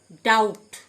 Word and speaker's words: doubt: ডাউট, DOUBT, be silent.